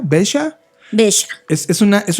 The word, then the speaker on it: Veja: una marca que se llama Bella así se pronuncia besha bha es es una es un proyecto eh